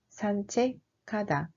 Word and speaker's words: 산책하다: The 17th is 산책하다, which means to go for a walk or to take a walk. The actual pronunciation is 산책하다, 산책하다.